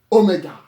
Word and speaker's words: omega: Then after psi, or ps, you have the mighty omega. Omega, the lowercase is. Now, in Greek, omega is considered double O, just as in hope, hope, hope.